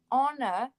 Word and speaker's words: honor: Now you think, oh, so all words that are spelt H-O-R, so we don't pronounce the H.